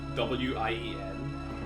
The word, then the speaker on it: Wien: Because like, they spell it It's that thing where German is spelled, like, in German, the W's are V's and the V's are W's, that type shit. Which makes, like, Vienna in German is spelled W-I-E-N.